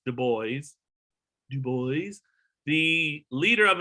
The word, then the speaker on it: Du Bois: Du Bois, not like Du Bois, but Du Bois. It's not French for, you don't pronounce it Du Bois. It's Du Bois.